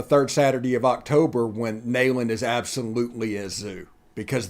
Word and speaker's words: Neyland: game on the third Saturday of October when Neyland is absolutely a zoo, because that's Neyland. That's I got brutally corrected on TikTok. It's Neyland. It is Neyland.